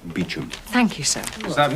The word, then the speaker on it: Beauchamp: Uh Beauchamp Walk, Southwest 3. Pronounced Beecham's.